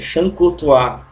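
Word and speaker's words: Chancourtois: A pronúncia é essa, Chancotoir, tá?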